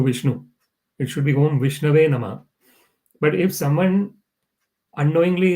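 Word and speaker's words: Viṣṇave: It is mentioned in the scriptures that sometimes someone might pronounce the mantras in a wrong way. So instead of saying Om Vishnave Namah, someone might say Om Vishnaya Namah. So Om Vishnaya Namah is not the right way of saying, of offering obeisances to Vishnu.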